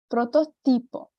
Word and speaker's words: protótipo: em tempo então estereótipo protótipo e faço aí a chamada de atenção para esse ti tá quando sempre que eu tivesse encontro de ti eu vou falar ti ti e nunca te tá não posso falar este